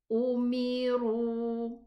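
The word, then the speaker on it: أمروا: Umiru. And this alif I mentioned before that it's not read. We don't read it, we omit it.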